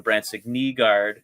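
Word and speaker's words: Brandsegg-Nygård: Um, you know, the Nate Danielsons, uh, the Bransic Neguard, which is the pronunciation we heard at the red and white game. Um, you know, my my beautiful baby boy Sanden Pelica.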